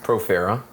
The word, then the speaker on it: Profera: Profera.